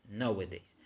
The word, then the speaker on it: nowadays: nowadays or nowadays, is nowadays. So for this reason, the stress is in the first syllable.